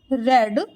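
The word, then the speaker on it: read: तो I have रेड the book. रीड का third form रेड होता है। स्पेलिंग सेम होती है बट इसको हम प्रोनाउंस करते हैं रेड।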